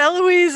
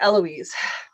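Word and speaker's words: Héloïse: started to write out eloise into like okay silent h what what what silent h what right after she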